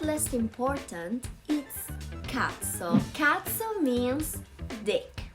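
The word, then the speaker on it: cazzo: important is cats so katsu means dick be careful with the pronunciation katso it's a an exclamation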